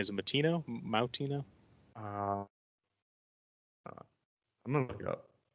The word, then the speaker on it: Moutinho: Is it Moutinho? I'm gonna look it up. Makes sense. Milford has a lot of Portuguese people. Milford. Moutinho. Moutinho? Yeah. Moutinho, yeah.